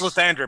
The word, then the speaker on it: Lathander: Oh, yeah, it's Lathander, but he just has problems with that TH sound.